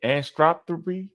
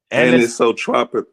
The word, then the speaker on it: anisotropic: Anstropy? Did I say that right? Probe. And anisotropic.